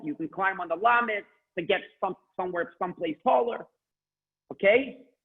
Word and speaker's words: Lamed: It's a letter Lamed. Please pronounce 5 times Lamed.